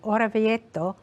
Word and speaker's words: Orvieto: What made you start thinking about this story, or how did you end up in Orvieto? I'm not saying it correctly. Orvieto.